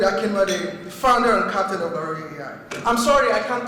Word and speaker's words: Laroye: I don't mind how you pronounce it, just make sure it's 3 syllables and not 2. So Laroye works, don't say Laroy, please. Make it 3 syllables, all right?